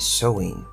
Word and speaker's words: Samhain: back to the ancient Celtic Festival of samim pronounced showing the Celts who lived 2000 years ago mostly